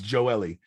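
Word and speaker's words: Gioeli: thought okay but it's there's not four syllables in joeli it's johnny gio ellie forget the geo party it's not g-o-l really it's joe ellie joe lee dean dean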